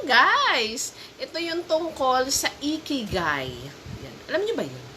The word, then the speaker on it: Ikigai: So, Ikigai, capital I-K-I-G-A-I. Capital I-G. Okay, yun ang spelling at ang pag-pronounce ay Ikigai.